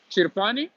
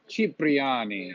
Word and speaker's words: Cipriani: How do you pronounce this name? I've always walked by Chirpani. Cipriani.